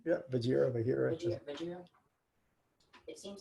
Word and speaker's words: Vajira: Yeah, Vajira.